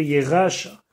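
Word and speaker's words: ירשה: Alors là, il faudrait être prononcé avec un miléel, c'est-à-dire l'accent tonique sur le début du mot. Shema, Yedar, Selacha, Lekacha. Afkan, la même chose. Ici, il faut dire Yeracha.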